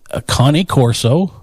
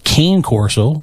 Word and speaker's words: Cane Corso: yeah baby he is a connie corso or some of you may know as a cane corso but it's pronounced connie corso just so everybody's aware and his name is